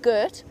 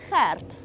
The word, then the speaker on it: Gert: So it's not Gert, we don't say it Gert, it's Gert. And you have to roll your R slightly to get it absolutely right.